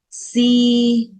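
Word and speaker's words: ສີ່: Bốn, si.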